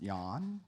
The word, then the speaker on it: Jan: she was growing up Jan was mostly a man's name pronounced Yan because there was intense kind of Scandinavian roots in that region and so and gay